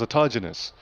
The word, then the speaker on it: autogenous: you pronounce that word autogenous Tim Ellis told us it was autogenous okay there we go autogenous um pressurization so yeah